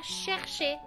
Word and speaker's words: chercher: Por ejemplo, en la palabra chercher, tenemos chercher. La E no termina mi sílaba, entonces es E. Chercher.